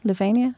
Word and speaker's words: Lavinia: Lavinia.